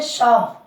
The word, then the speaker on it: psalm: जैसे जैसे देखें, PSALM, ध्यान देना, इसको बोलते हैं शाम। क्या बोलते हैं? शाम। शाम का मतलब होता है भजन। यहां देखें, एस के पहले पी आ रहा है तो पी यहाँ पर साइलेंट रहा।